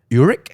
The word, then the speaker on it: Urich: You know, I think that, as we mentioned, that is the framing device of this book through the lens of Ben Urich. Am I pronouncing that right?